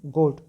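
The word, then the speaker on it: goat: वैसे ही गोट, जी ओ है लेकिन ओ का साउंड को ही हम यूज़ कर रहे हैं, गोट। ये वाला जो ए है वो दब जाता है।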